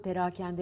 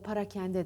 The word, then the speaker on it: perakende: denir genelde harfiyat battı perakende ya parakende dendiği gibi para kendi denir Doğru değil Doğrusu perakende perakende bakın ağzıma dikkat edin